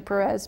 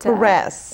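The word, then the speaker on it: Pérez: I think it's, you know, it's easier to say Cristina Perez, but Perez. Perez, that's what, but you know, I am Cristina Perez.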